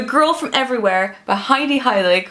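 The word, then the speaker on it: Heilig: from Everywhere by Heidi Hilik, who has the best name ever, spelled like the Dutch word for holy, which is Hilik.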